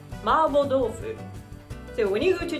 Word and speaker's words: mapo tofu: i'm getting hungry in english we call this marpo tofu i looked up on wikipedia and it said so but in japanese it's more like marble tofu so when you go